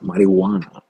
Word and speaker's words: marijuana: If you're not pronouncing J, why are you fucking putting that to that word? Okay, pronouncing without J.